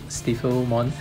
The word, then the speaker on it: Stiffilmon: fomon I guess because it's spelled s-t-i-f-f-i-l so it sounds like it's typhil mon stifle mon um and in that